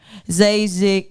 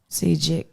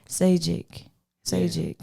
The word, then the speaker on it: Zajikc: But everybody, make sure you support Zajikc. Did I say it right? No. Zajikc. See? Zajikc.